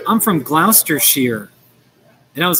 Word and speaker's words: Gloucestershire: And I was like, oh, you mean Gloucestershire? No, and she was like Gloucestershire. And it's spelled S-H-I-R-E. So there's a difference in, you know, the British and the American way that we pronounce it.